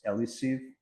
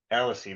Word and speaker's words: Elis: Yeah, it's um uh the last name is Ellis. Elis, that's how you pronounce it.